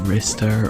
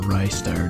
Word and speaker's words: Ristar: the year goes to restar or rystar depending on how you want to pronounce it it's definitely a pretty